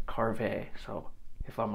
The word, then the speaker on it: Karve: Karve. I believe that's how you say it. I heard Matt Pisarsk last week on his YouTube channel say Karve.